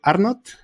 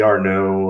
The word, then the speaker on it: Arnott: and that's pretty nice most people drop one tea and and think I'm French you know r no or I get all